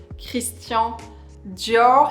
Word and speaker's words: Christian Dior: This is of course my beloved Christian Dior, so pronounced Christian Dior.